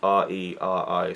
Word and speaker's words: Reri: Matahi, and a girl, Reri. I'll just call them the girl and the man because I don't know how to pronounce them, but her name is spelled R-E-R-I, so Reri.